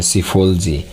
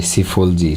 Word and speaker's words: psephology: उसको कहा जाता है सीफोलॉजी। पी इसके अंदर साइलेंट है, PSEPHOLOGY, सीफोलॉजी। चुनाव को विश्लेषण करना, यानी जो इलेक्शन है उसको एनालाइज करना, उसका विश्लेषण करना सीफोलॉजी कहलाता है।